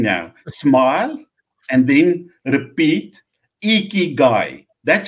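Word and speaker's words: ikigai: width and it's lovely you cannot say you pronounce it iki guy you cannot say that without a smile and I want everybody that where you're sitting now smile and then repeat iki guy that's how you clean dirty God so it's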